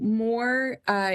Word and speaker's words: Mor: So more in Hebrew, it's pronounced mor.